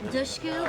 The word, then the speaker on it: Dushku: things Elijah was the perfect pick that's Elijah dushu pronounced like push D Eliza I love what she